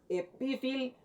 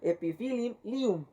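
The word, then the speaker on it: Epiphyllum: tenemos ahí, nos dice la presencia de dos L, como aparece entre paréntesis, se pronuncia cada una por separado. Ejemplo, epipilium. Bueno, ahí tenemos combinación de PH y LL, ¿verdad? Entonces se va a pronunciar como epifil-lium. Pronunciado formalmente sería epifilium.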